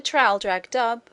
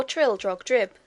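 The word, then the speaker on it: Traldragdubh: and my retinue to tr drag dub or Trill drog drip for it is pronounced both ways as near as I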